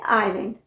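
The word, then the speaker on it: island: pronounce नहीं होता है जैसे आईलैंड आई एस एल ए एन डी इसे हम प्रोनाउंस करते हैं आइलैंड इन वर्ड्स को देखिए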